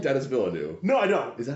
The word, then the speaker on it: Villeneuve: So you don't like Denis Villeneuve? No, I don't. Is that how you say his name? Villeneuve, yeah.